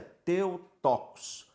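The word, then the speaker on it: Θεοτόκος: que que se chama a pronúncia é teu tocos teu Deus tocos parir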